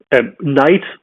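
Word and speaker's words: knight: represents sort of the late middle english and pronunciation right for example night right the person in armor with a sword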